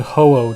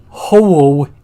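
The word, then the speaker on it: Ho-Oh: is based on and in Japanese like hoo it's spelled like h o u o u hoo is its name so I guess and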